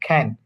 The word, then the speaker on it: can: can খ উচ্চারণ হবে। আচ্ছা, খ্যান, Can. দেখেন খ্যান, হ্যাঁ, Can খয়ের মতো ক আর খয়ের মাঝখানে একটা ওয়ার্ড ইউজ করুন, খ্যান। ঠিক আছে, can Can. হ্যাঁ, খ্যান।